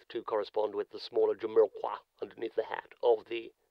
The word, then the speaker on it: Jamiroquai: Well, I suppose he would, but, Jamiroquai himself... I think it is actually pronounced Jumqua. Like the fruit, kumquat. Jumqua.